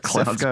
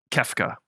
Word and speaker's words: Kefka: I think it's like Klefka or something. I gotta find that. The clown guy. I think it's like Klefka or something. Yeah, Kefka.